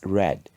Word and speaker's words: read: nor put it but for read the pronunciation changes in a simple past and past participle it becomes red so we say read read read some irregular verbs also